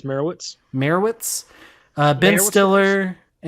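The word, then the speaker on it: Meyerowitz: I believe it's Merowitz.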